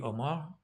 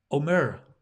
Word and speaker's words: Omer: Thank you, Omar. Omer, excuse me. I'm pronouncing that with an Irish accent.